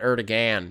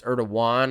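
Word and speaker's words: Erdoğan: Erdogan. Is that how you say it? Not Erdogan. It's Erdogan.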